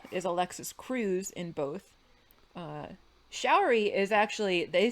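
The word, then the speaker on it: Sha'uri: Showery is actually, they spelled her name different in the movie from how it's spelled in the series, which I hadn't realized.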